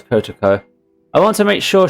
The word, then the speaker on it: Kotoko: Oh, I actually pronounced it right. It's Kotoko.